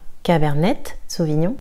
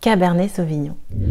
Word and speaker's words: Cabernet Sauvignon: On ne dira pas Cabernet Sauvignon, le T est silencieux. Cabernet Sauvignon.